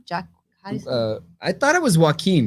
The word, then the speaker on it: Joaquin: say his name jack i thought it was joaquin joaquin that's right yeah was more about mental illness